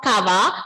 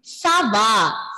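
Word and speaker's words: ça va: Adish, pronunciation is not Kava. Pronunciation is Sava.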